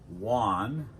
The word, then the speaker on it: Juan: and now "Juan Padilla" "Juan" In English "Juan" Almost a "W" sound "Juan" (wan) not too different than "one" like the number one.